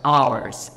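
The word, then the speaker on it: hours: আবার আওয়ার্স, যেমন ঘন্টা, আমরা এইচ পাবো ইউয়ার্স দিলেও এইচের উচ্চারণটা সাইলেন্ট থাকতেছে, তার মানে আমার এইচ যেহেতু কনসোনেন্ট কিন্তু সাইলেন্ট, তাহলে আওয়ার্স হচ্ছে উচ্চারণটা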